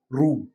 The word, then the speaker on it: روم: میں بتا چکا ہوں عربی میں جو تلفظ ہے، پروننسیشن ہے، وہ ہے روم.